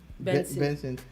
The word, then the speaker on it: BNXN: buchu's new name is bnxnb yes it's pronounced vincent you know and uh